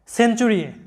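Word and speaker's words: century: তাহলে এই শব্দে আমাদের সি এর উচ্চারণটা আসছে ছ এর মতো, সিই সে, CEN সেন। তোমরা জানো যে ই এর আগে এবং পরে কনসোনান্ট থাকলে ই এর উচ্চারণ হয় একার, তাই এখানে ই এর উচ্চারণটা হবে একারের মতো, সিতে স, ইতে একার, এনে ন, সেন, সেঞ্চুরি এরকম হবে সাউন্ডটা, যেটার বাংলা অর্থ হচ্ছে শতাব্দী।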